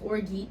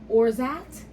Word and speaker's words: orgeat: it should be pronounced orgeat or maybe orgiat, as in because we so often hear. No, I didn't think orgy, not at all. The word is pronounced orzat, Oh.